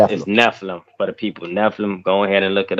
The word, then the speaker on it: Nephilim: Nephilim. It's It's I don't know how exactly how you spell it. It's ne p I l Something like that. I'll put it up here, but it's Nephilim, basically. Nephim.